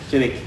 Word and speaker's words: Jenik: Jenik. Jenik. And then Photogenic.